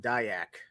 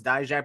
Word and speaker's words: Dijak: shoot yeah uh oh someone asked isn't it pronounced dayak I heard that guy Jack I heard diac dijak I think it's dijak because you know he used to be Dominic dijakovic so dijak yeah it's died Jack I think they just